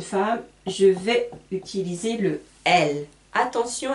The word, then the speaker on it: elle: C'est très différent le il et le L. En fait, L, c'est comme dans l'alphabet, la lettre L. C'est exactement pareil, ça se prononce de la même manière.